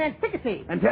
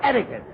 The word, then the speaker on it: etiquette: you dope what do you me you mean antiy an it's it's etiquette well etiquette antiy it's the same thing any